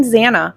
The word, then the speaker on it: Zana: I'm Zana, pronounced Xanax without the X, is how the petite brunette introduced herself to the Pi Phis on the first day, and everyone laughed.